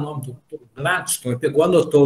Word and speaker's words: Gladston: Uma sílaba de 5 letras, Gladstone, o D tem que ser mudo, Gladstone.